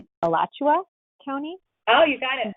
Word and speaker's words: Alachua: So tell us, and I know I did not pronounce the county. It's Alachua County?